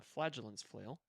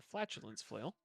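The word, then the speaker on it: Flagellant's Flail: just popped up the flagellance flail um but she had to be careful when pronouncing uh he very easily turned into flatulence flail but the flagellance flail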